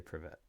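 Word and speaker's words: Привет: To help recognition pick up, start by slowing down the pronunciation, focusing on this distinct sound, emphasize the V sound, and roll the R in the middle of the word.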